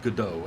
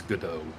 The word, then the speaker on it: Godot: It's not, not- Godot, but Godot, and I still don't understand why it's Godot. So why is there a T on the end of it? I don't know, Sean, but it is pronounced Godot.